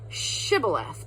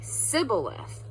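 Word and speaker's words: shibboleth: And they would say, "S say Shibth," but he would always say Shibth. Shib Shibith, but he would always say Cibilith.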